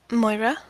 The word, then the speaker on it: Moira: Moira.